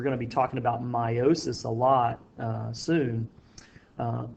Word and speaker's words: meiosis: how you pronounce that it looks like it would be meosis but it's actually pronounced meiosis is a special type